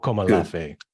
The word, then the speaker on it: Akomolafe: Akomolafe.